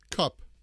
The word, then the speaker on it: cup: On the other hand, the U sound is very short. Your tongue drops to the bottom of your mouth, and you don't smile so much. It's very short. Cup.